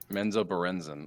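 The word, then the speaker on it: Menzoberranzan: to a top luskin okay if if i'm pronouncing that right let me double check um menzo berenson menzobarenzin okay yeah m-e-n-n-c-o-b-a-r-r-e-n um holly you would know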